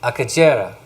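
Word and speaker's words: Akagera: So this is pronounced Akajera.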